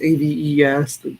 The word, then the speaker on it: aves: I always said aves growing up, but I think the proper way to say it is aves, A-V-E-S, the birds.